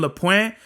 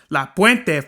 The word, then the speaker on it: La Puente: Like, you gotta say it like that. Like, oh, you're from La Puente? La Puente, fool. You gotta fucking say it with your chest out, homie. Like how the Raza says it.